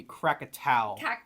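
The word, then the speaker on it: Krakatau: Number nine is um I don't know how to pronounce those. So that would be Crackatau.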